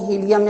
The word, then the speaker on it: hilum: इसको हम हीलियम या हीलम कुछ भी बोलेंगे, लेकिन हम इसको हीलम भी कह सकते हैं.